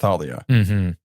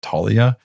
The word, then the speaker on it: Thalia: me to like remember how to say her name Thalia like that because I always thought it was just Talia I don't know whatever it's that th yeah we got to